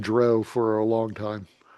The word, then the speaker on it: drow: people were calling the Drow. And so that's the first time I remember them putting out a pronunciation guide. They wanted to make it very clear that it rhymes with cow.